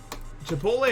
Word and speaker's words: Chipotle: Chipotle is definitely how you pronounce it.